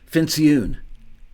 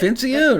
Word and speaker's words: Fincioen: Joke Fincioen. Yeah, rhymes with balloon. You hit it. Fincioen, I got it.